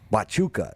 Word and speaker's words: Huachuca: Huachuca is how you pronounce it.